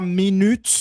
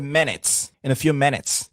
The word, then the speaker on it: minutes: Ce n'est pas minutes, c'est minutes.